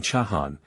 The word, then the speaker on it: Chahan: Quin is sun in the Mayan language, and Chahan, as everyone acquainted with the Spanish pronunciation well knows, is nothing more than a variation in orthography for Khan or Can, serpent.